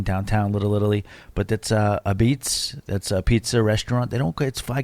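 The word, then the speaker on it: Apizza: We're looking to get to Wooster Street, and this is Sally's A Beats. That's what they call it. It says a pizza. It's pronounced a beats.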